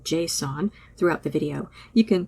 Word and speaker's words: JSON: It's supposed to be pronounced like the name "Jason," but I've never heard anybody say it that way.